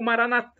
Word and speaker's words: Maranata: tônica na penúltima sílaba ou Maranata com a tônica na última sílaba como dizemos nós católicos porta somos todos irmãos